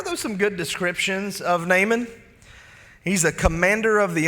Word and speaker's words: Naaman: a very important man there's a guy there named naman or as some people who really like to pronounce every syllable call him Naaman I thought about doing